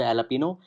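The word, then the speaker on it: jalapeño: Lupino Pisa okay so J is silent air so it is pronounce the jalapeno cheese a Lupino Pisa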